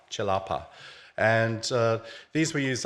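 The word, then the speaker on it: celepa: which um are called chilapa uh it's spelled c e l AA C in Malay is always pronounced as a CH so it's chalapa not salapa chalapa and uh these were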